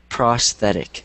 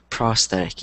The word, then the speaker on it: prosthetic: that's a weird word but it's pronounced prosthetic yeah prosthetic yeah so if you don't know it just say it out loud prosthetic good okay um